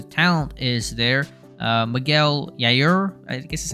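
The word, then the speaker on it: Yajure: need to the talent is there uh Miguel yair this is how you say that he was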